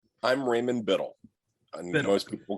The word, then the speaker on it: Biddle: way to say your last name I'm Raymond Biddle and most people call me in the